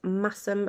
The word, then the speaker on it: Masham: I got 500 grams of, I think it's pronounced massum, but it's spelled masham.